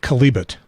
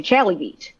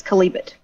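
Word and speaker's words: Chalybeate: Yes, and this is a very contentious local issue because you know that you're not from around here when people say Challybeat. Well, I was going to say Calibut, so I'm close. Challybeat? I've heard many lectures to the tune of it's Calibut.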